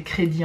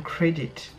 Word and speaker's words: Credit: Credit ou Credit, enfin on va le prononcer crédit en français, mais en anglais ça donne Credit.